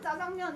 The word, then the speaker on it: 짜장면: 이런 거 같은 경우에도 사람들이 짜장면 이렇게 많이 발음을 원래 자장면이라고 발음해야 된다고 하잖아, 그지? 짜장면이라고 많이 발음을 하니까 왜냐면 얘는 된소리로 발음을 할 만한 근거가 없거든.